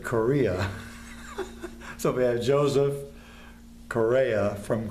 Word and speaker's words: Correa: company my company and his name is cor EA and we pronounce it korea so bi Joseph Correa